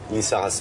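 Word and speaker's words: Lizarazu: Lissarazu. Ouais. Ça, c'est la bonne prononciation.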